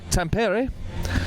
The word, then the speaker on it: Tampere: and uh we are here today in uh Tampere which I've been reliably told is the pronunciation of this particular town in Finland which